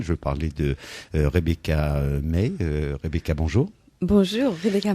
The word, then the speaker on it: Maï: Je veux parler de Rebecca May. Rebecca, bonjour. Bonjour, Rebecca May. May, excusez-moi, mais comme ça s'écrit comme le mois de mai et qu'en mai Oui.